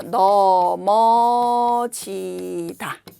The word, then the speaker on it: 넘어지다: 발음은 넘어가다. 이렇게 발음하면 되죠. 이거는 발음이 어떻게 되죠? 넘어지다. 이렇게 발음하면 돼요.